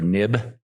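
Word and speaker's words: Knibb: Khloe diger and I I think it's pronounced Taylor nib k IBB and she's also doing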